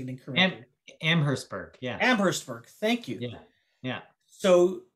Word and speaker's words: Amherstburg: I might be pronouncing it incorrectly. Amherstburg, yeah. Amherstburg, thank you.